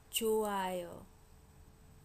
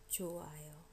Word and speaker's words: 좋아요: 좋아요, 좋아요. If it's followed by a vowel, h almost disappears.